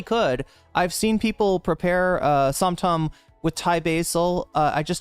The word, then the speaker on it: som tam: So you're saying some ton, how is it actually pronounced though?